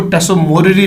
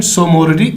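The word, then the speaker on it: Tso Moriri: Mountain lake सोमोरिरी को कहते हैं, यानी कुछ इसको टसोमोरिरी लेक भी पढ़ते हैं, तो कहीं इसकी प्रोनाउंसिएशन सोमोरिरी लेक भी है.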